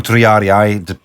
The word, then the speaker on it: triarii: I would like to have some more triari. Or triarii, depends on... Yeah, it's a pronunciation thing.